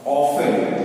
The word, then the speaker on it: often: Alright, now tells us how often, O-F-T-E-N, कितने बार, लगभग कितने बार, often, O-F-T-E-N, स्पेलिंग O-F-T-E-N को often नहीं कहते हैं, often कहते हैं। टी जो है ये साइलेंट हो जाते हैं, लेकिन स्पेलिंग में मिस्टेक नहीं होना चाहिए।